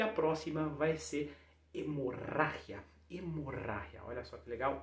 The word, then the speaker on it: hemorragia: O G com I vai ter um som de R mais um pouco mais seco. Hemorragia, hemorragia, certo?